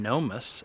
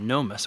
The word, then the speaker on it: gnomus: to do a quick video on this catasetum gnomus uh gnomus is spelled g-n-o-m-u-s and it's a pretty rare species